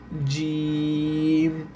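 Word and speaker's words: جيم: তখন অক্ষরটার নাম হবে জিম।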